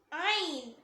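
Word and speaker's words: عين: Next letter ஐன் ஐன் ஐன். இத தொண்டையோட மிடில்ல இருந்து வரும்.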